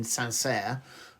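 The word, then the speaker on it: Saint-Cyr: uh the military academy in sanser I think that's the correct pronunciation c yr s um and then went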